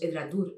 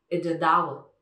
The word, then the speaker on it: Edradour: Y igual que es Edradour, no es Edradour, es Edradour.